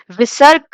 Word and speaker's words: Visarg: Visarg is pronounced as ha.